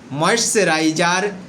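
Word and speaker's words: moisturizer: সচরাচর বিশেষ করে ভুল করে থাকি তার সঠিক উচ্চারণ। প্রথমে আমরা জেনে নিতে পারি, আমরা বলতে পারি আই ইউজ ময়েশ্চারাইজার টু সফেন my skin.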